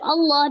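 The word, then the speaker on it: الله: keduanya adalah huruf lam dibaca Allah bukan Illah ya maka ini juga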